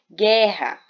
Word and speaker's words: guerra: Guerra.